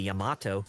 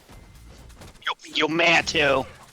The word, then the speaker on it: Yamato: I say Yamato because that's how it's supposed to be said, not Yamato. Yumato. I always thought it weird that they pronounced it like that in DMC Devil May Cry.